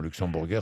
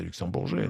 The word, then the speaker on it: Luxembourger: Non, Luxembourger, c'est pas très bien, c'est luxembourgeais, non? Vous pouvez dire luxembourgeais, oui.